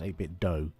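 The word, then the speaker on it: 8BitDo: got an 8-bit do i call make bit do but i have a feeling they're supposed to be pronounced a bit doe as in nintendo um i've got an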